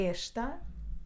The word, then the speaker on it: esta: ser 3ª pessoa singular ele é inteligente e esta está e esta está esta janela está fechada